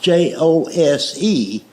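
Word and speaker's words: José: The word Jose is Jose, but it's pronounced with an H.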